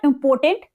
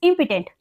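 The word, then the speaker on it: impotent: चलिए 41030 इट्स इंपोर्टेंट इट इज नॉट इंपोर्टेंट इट्स इंपोटेंट ध्यान रखिएगा प्रोनाउंस करते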